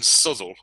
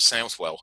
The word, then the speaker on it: Southwell: call it shrewsbury and the people in subtle or southwell can't even decide for